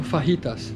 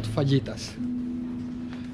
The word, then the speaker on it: fajitas: This is pronounced tortilla, not tortilla. One tip. It's also fajitas, not fajitas.